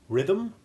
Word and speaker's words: rhythm: English and we simply treat the H as being virtually silent. Listen to the following examples. Rhythm, rheostat, rheumatism.